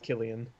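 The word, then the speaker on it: Cillian: all right i think i'm pretty sure it's pronounced killian um civilian murphy civilian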